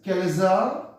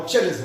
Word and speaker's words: chalaza: Now this part is called as chalaza or chalaza. Okay, there can be two different types of pronunciation of the same thing, chalaza or chalaza. Now it's up to you what you speak or what your teacher suggests you.